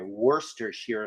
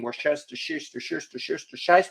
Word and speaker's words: Worcestershire: know it's funny but I prefer to actually pronounce it the proper way Worcestershire sauce rather than everybody else making jokes and saying Worcestershire sauce which yes it is funny but um